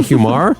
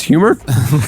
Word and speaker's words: humor: It's not humor, it's humor.